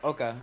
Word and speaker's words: Oka: Now we have also our other, I guess, Oka. Am I saying it correctly? We called you A for a while. Oh yeah, Oka. Oka's fine.